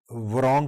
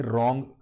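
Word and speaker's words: wrong: بھی درست ہونا چاہیے، یعنی رانگ کی جائے ورانگ کی بجائے رانگ۔ اگر لفظ درست لفظ ہو نا رانگ، ڈبلیو سائلنٹ ہے، آپ ورانگ بولیں۔ اور اسی طرح آپ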